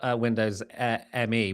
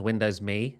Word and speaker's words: Windows ME: Before we get too far away from Windows ME, which by the way, I've just learned was actually supposed to be pronounced as Windows MI.